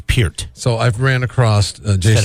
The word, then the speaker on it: Peart: So it's Pert.